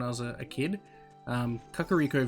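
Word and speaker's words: Kakariko: was a kid um kakaro village I used to just called kirio Village I don't know it just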